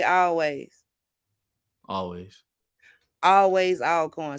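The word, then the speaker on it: Alcorn: say always always always all coin sweetheart not Al coin thank you how you say it all corn baby all corn all okay so I'm guessing with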